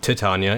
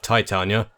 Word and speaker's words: Titania: I'm pretty sure her name is supposed to be pronounced Titania instead of Titania, but that's how it's pronounced in game, so that's what I'll use.